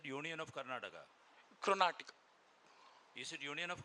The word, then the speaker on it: Karnataka: So you are pronouncing this as a Chrontica as Karnataka? It's Karnataka.